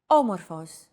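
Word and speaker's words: όμορφος: a language is intonation did you notice the accent mark above the first letter there is only one type of accent mark in modern greek the acute accent it adds stress to a syllable a stressed syllable usually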